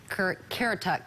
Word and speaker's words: Currituck: This is a live webcam from Kerala Beach, located in Currituck County. Did I say that right? Yep, Currituck County.